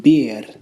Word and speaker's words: bir: You just blow the air out, and you could almost hear the slight sound of an S instead of a hard roll of the letter re.